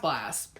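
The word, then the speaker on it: BLXST: just do it together how do you pronounce this because I'm so interested it is pronounced blast look at me go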